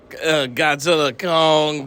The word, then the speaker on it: Godzilla x Kong: got done seeing uh Godzilla Kong the new Empire and too he said it right folks the x is silent well I watched a